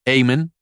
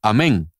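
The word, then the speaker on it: Amen: nombre es daniel amén en inglés se pronuncia aimen pero en español se pronunciaría amén al igual que la palabra que decimos en la misa después de una oración amén asimismo a mn daniel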